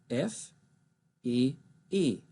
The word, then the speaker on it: Fee: F, E, E. It's also pronounced Fee, and it's the German word for fairy. Notice my name, V-E-H, Fee.